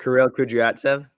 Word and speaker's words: Kirill Kudryavtsev: Kirill Kudryavtsev.